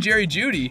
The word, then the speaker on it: Jeudy: Other Key Injuries Along with everyone mentioned in this video, players like Cooper Kupp, Chase Young, Jeff Wilson Jr., and Jerry Jeudy (pronounced Judy) are also dealing with preseason injuries that could impact their teams in 2023.